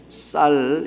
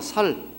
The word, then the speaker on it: 쌀: 쌀 이러니까 쌀, 이 쌍시어 쌀 이래야 되잖아요. 쌀. 근데 저도 잘 안 돼요. 그래서 쌀이라는 발음을 해야 된다 생각하면 머릿속에 상시어를 해야 돼. 상시어를 해서 쌀 이렇게 해야 되지. 안 그러면 살 이런다고요.